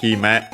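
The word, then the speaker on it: 姫: Uh yeah this is he met an accent on the first mor on its own.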